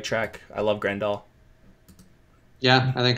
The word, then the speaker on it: Grandal: would you go if I presume I'm grande all yeah you said it right there he's on the right track I love Grandal yeah I think it's grunt up cap Richards